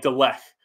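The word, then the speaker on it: Lindelöf: we had sander on he told us how to say it was like de lef if I remember correctly yeah it's but we're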